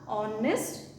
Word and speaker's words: honest: So here what we have to do is H is silent, O is there, then we have to write the article an.